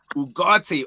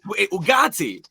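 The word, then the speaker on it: Ugarte: When you see Ugate on the touchline, I say his name properly. Say his name properly. Ugatti.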